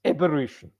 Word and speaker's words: aberration: It's aberration Aberration. with emphasis on the be also.